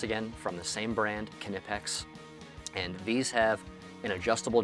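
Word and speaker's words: Knipex: These are from a brand called Kipex. It's spelled K N I P E X and they are really good.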